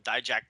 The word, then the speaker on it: Dijak: Is it Dijak? I can never pronounce his name.